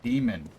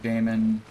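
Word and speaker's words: daemon: to the world that that word is pronounced demon same as d-e-m-o-n but it's just i'm i'm being picky i'm being fussy about words that when people pronounce it like damon more or less know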